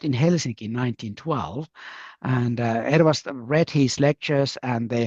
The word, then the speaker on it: Ervast: Is it Ekras? Is that how you say it? Ervast. Ervast. It's a bit hard to pronounce.